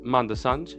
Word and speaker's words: Manda Sanj: With that being said, I'm your host, Manda Sanj, yes, that is how you say it, and welcome to the bottom of the shower.